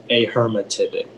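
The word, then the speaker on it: ahermatypic: plus an english part are there any alternate pronunciations it's just the one a hermetic a hermetic a h e r m a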